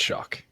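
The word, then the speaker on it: Shough: It's spelled like Shaw, right? It's like S. Yeah, Shaw. We shouldn't. Honestly, we all need to stop. We all need to stop. It's It's Shock or it's Shaw.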